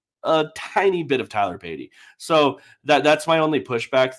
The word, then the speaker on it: Batty: Someone did some research and found some old one, and they were like, "Is it Tyler Batty or Tyler Beatty?" And he was like, "It's Beatty." No, I know.